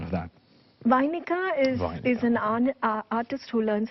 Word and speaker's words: Vainika: What's the meaning of being a Vainika, and what's the correct pronunciation of that? Vainika is an artist who learns how to play the veena.